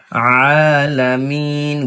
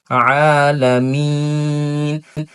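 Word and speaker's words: العالمين: যেমন আলহামদুলিল্লাহি রাব্বিল আলামিন আলামিন গলার মধ্য থেকে সুন্দর আইন উচ্চারণ করতে হবে আলামিন এবং আমাদের এটা প্রত্যেকটা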